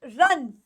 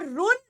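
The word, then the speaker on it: run: सकता है now this word is रन रन इट इज नॉट रुन इट इज रन ये हम सबको पता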